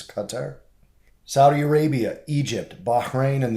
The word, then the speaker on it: Qatar: a surprise cutting of diplomatic ties with Qatar, which a lot of people pronounce Qatar, but it is Qatar.